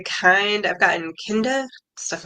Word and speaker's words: Kinde: So Yeah, well, it's like, okay, you find it, and you said Kinda, right? hmm Oh, Yeah, well, Kindi actually is the indeed. correct Indeed. Okay, pronunciation.